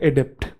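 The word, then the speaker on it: adept: इसको बोलते हैं अडैप्ट, ये है अडॉप्ट, और ये है एडिप्ट, ठीक है। अडैप्ट, अडॉप्ट, एडिप्ट।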